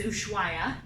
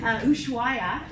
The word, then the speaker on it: Ushuaia: Now it starts and ends in another tricky to pronounce city. This is Ushuaia. Ushuaia is the southern tip of Argentina, and that's where our adventure will begin.